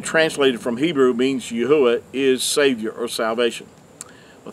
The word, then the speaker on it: Yahuah: know that the name of the creator is pronounced as yahuwah he's not referred to as yahweh as a lot of people who uh been